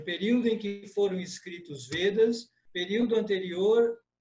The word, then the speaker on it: Veda: Veda, tá? A pronúncia é veda. Em português, veda, mas em sânscrito, veda. Com o e fechado.